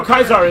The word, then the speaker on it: Caesar: Yeah, no, Kaisar is way better. You don't know, Kaisar is actually the proper pronunciation of Caesar.